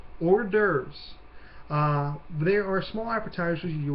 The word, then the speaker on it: hors d'oeuvres: Now, this next one is hard to look at, but it's actually pretty easy to pronounce. Hors d'oeuvres.